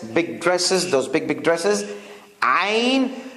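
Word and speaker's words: عين: We have this ayn. You see this frock dress I talked about? Ladies' dress, big dresses, those big dresses. Ayn. Now this is like an ah, but from deep inside the throat.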